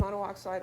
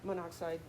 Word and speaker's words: monoxide: O and that's yes you can pronounce it mono oxide or monoxide tomato tomato okay so that's our skeleton